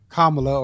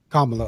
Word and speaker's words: Kamala: So, that eliminated Trump automatically and that eliminated uh Kamla or Camala. Um, if you say her name wrong, she gets upset. Kamala. Okay.